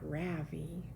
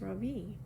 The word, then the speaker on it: Ravi: voice quivering a little my name is not ravi it's pronounced ravi she looks at me